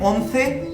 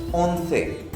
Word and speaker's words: once: 11 को बोलते हैं ओंसे, ओंसे। ठीक है, यहाँ थोड़ा सा अगर आप मेरी टंग को देखें, ओंसे, तो ये थोड़ी सी चेंज हो रही है।